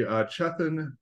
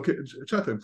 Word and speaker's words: Chethan: And with me today during this interview will be Chethan. He's a PhD. Did I pronounce that right? Yeah, Chethan?